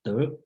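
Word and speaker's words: 德: If you recognize Chinese word called De, okay, the pronunciation is De.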